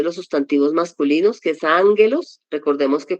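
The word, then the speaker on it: ἄγγελος: sustantivos masculinos, que es ángelos. Recordemos que cuando hay 2 gamas seguidas, la primera se pronuncia como una ni, como una n.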